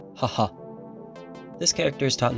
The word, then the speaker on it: 母: Today's kanji is mother, pronounced bo, haha.